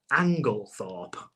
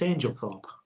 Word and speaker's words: Anglethorpe: One's L-E and one's E-L. It's L-E. So it's Angle.